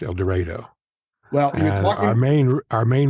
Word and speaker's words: El Dorado: 35 miles Northeast of here which should be pronounced El Dorado it's pronounced El Dorado well our main our main river here is